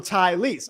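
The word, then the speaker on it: Taliese: And he says, say his name like Tyrese, but with the Tylese. So Tylese.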